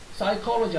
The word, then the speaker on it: psychology: PSY는 정신에 관련된 건데 PSY에서 P가 무슨 발음이 안 돼서 psychology 하면 심리학 이렇게 돼요.